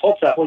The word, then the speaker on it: Holzapfel: His name is Holzapfel. How do you say that? That's Holzapfel.